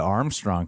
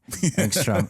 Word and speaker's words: Angstrom: Like, especially with the Armstrong character, I was surprised by how... Angstrom? Come on, Armstrong. Angstrom.